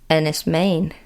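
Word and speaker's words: Enys Men: Pronounced Ennis, Maine, because it's Why?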